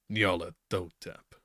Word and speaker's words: Nyarlathotep: whose soul and messenger is the crawling chaos, Nyarlathotep. And I remembered this time, guys, the proper pronunciation.